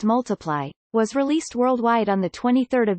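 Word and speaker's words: ×: Sheeran's second studio album, Times pronounced Multiply, was released worldwide on 23 June 2014.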